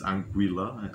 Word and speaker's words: Anguilla: I lived in Anguilla for a little while. Some people don't understand. When I say Anguilla, some people think Angola, but it's my accent. It's Anguilla.